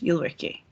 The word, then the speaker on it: Ulrikk: you can say ulrike that's probably the best way to pronounce my name in english you'll ricky i come from norway